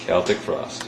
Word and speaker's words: Celtic Frost: as the correct pronunciation is celtic for us celtic frost that's how we pronounce it you know as long as people